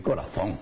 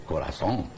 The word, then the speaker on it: corazón: Yo no llego a decir corazón, como lo dicen los españoles. Pero en Hispanoamérica no se acostumbra a eso, es corazón. Se escribe con Z y se pronuncia con S.